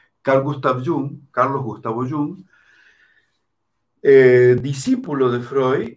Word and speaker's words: Jung: gustav jung carlos yum yo sé que algunos pronuncian yang como si fuera yang como si fuera joven en inglés pero young yoo en alemán carl gustav jung carlos gustavo yum el discípulo de freud